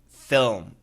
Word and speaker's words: film: Can you teach me how to pronounce the word film, F-I-L-M?